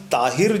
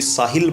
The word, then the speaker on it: ताहिर: नाम ताहिर जो है, मेरी ऑडियंस हमारे छत्तीसगढ़ के भाई ताहिर को प्रॉपर प्रोनाउंसिएशन उनका मैंने देखा था, कोई साहिल बोल रहा था, कोई शाहिर बोल रहा था, हाँ कोई तारिक बोल रहा था।